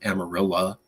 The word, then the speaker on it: Amarillo: you go to Amarillo spelled Amarillo but that's how they pronounce it you can go to